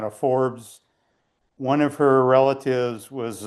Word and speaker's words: Forbes: exiled to Holland and people in Holland didn't didn't pronounce the R. And so some of them immigrated to the US and kept it fobs.